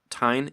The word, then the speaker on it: TEGN: I wanted to switch over to TEGN. Is it pronounced TEGN? Yeah, that's perfect. Could you talk about that project?